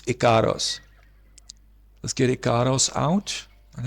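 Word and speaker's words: Ikaros: Icarus, or Icaros, I think she pronounces it Icaros. I always mispronounce it as Icarus. I thought it was Icarus, but it's Icaros.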